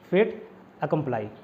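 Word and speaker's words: fait accompli: तो वो निर्विवादित तथ्य को बोलते हैं फेट अकम्प्लाई, ठीक। फेट के स्पेलिंग हालांकि FATE होता है, FATE वाला फेट होता है, बट ये फेट का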